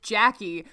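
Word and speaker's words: Jacqui: that i spell it my name is just jackie but i choose to spell it j-a-c-q-u-i why because in grade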